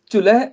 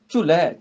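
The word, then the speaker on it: ਚੁਲੈ: चुलै सो छत निरंजनी मल तखत बैठा गुर हट्टी है। चुलै इहनूं चुले नहीं बोलना चुलै बोलना।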